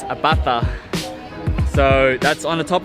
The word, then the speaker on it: Abaca: a bastard village so it's spelt as a BAC a Ibaka by you pronounced to see as a fur so it's a bata so that's on the